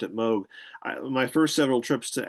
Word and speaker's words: Moog: any way you wanted, but he the family pronounced it Moog.